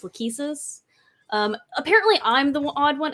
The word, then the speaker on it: Lachesis: So like Lachesis from Genealogy in Fire Emblem Heroes is pronounced Lachesis.